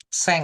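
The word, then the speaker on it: 千: Sen. Seng. Iya, betul. Heeh. Bacanya seng. Betul. Oke. Baik. Seng gitu ya.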